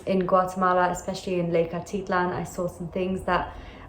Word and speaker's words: Atitlán: the edge of lake atitlan atitlan sorry i kept pronouncing it wrong as i was traveling as well but it's pronounced lake atitlan because of the accent on the a and panna hatcher is